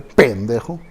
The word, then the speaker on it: pendejo: Llamar a alguien pendejo, así con acento en la P, pendejo, güey, o de cualquier